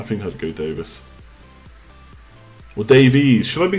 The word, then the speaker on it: Davies: nice but he proba is it pronounced Davis Ben Davis we'll spend the next half an hour talking about this now Ben Davis no it's Davies it's spelled Davies anyway Valencia Walker so